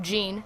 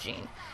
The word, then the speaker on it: Jin: was talking in the, you pronounce it Jean, not Jin, but whatever.